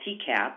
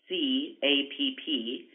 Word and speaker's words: TCAPP: These are both available through our certification app, which we call TCAP. It's spelled TCAPP, and TCAP is available for both iOS and Android devices and can be downloaded free of charge.